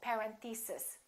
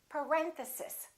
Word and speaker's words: parenthesis: on this one a a lot of them say something like parenthesis and it's actually the second syllable it's parenthesis parenthesis next one these can